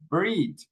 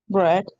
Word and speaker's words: bread: word is pronounced like bread and that's not correct. How do we pronounce this word? Bread. Bread. Like an e here. Again, this couple of letters are pronounced like an e in Spanish.